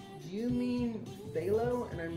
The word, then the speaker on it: phthalo: like do you mean velo and i'm like oh is it pronounced stay low and you go up to the bottle it's p-h-t-h-a-l-o how was that phthalo blue like get rid of the ph and the whole thing